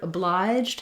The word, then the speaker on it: obliged: So firstly, the word obliged has two syllables, and the stress is on the obliged syllable.